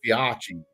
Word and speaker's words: Fiocchi: Yeah, it's Fiachi. Yeah, it's not Fiocchi, it's Fiachi.